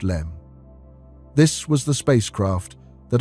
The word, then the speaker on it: LM: The lunar module the LM, pronounced LEM.